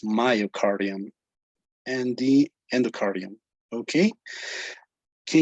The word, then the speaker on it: myocardium: you tell us again another pronunciation mistake would be myocardium okay myocardium when you say it's my name you say my so it is myocardium and the endocardium okay